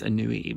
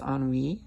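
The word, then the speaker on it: Ennui: or anything so um I was calling this an neie but but I suppose it is pronounced on we on WE and um this is actually a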